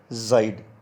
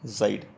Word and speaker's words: seid: With ear we use zaid. SEID, zaid. इन डोइश जब भी कोई वर्ड एस से शुरू होता है mostly it is pronounced as ज, मोस्टली नॉट ऑलवेज.